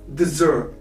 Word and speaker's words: dessert: In the case of desert, the double S here are spelled as z. Dessert.